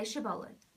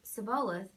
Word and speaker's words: shibboleth: they said all right say Shibboleth if he said cibola because he could not pronounce the word correctly they seized him and